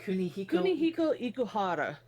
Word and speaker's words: Kunihiko Ikuhara: name real fast so I know how to pronounce it. Kunihiko Ikuhara.